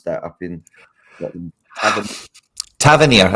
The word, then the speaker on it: Tavernier: Tavernier, I think, is the most common way it's said up here, but there is like 4 ways of saying it.